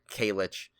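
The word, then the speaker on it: Kajlich: Yeah, it's Kalich. Kalich. Yeah, it's a silent, the way they spell it.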